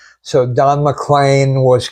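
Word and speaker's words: McLean: And uh that is it rhymes with rain, rhymes with explain. So Don Mlan was correct. She thought it was Don Mlean because that's the way it's spelled.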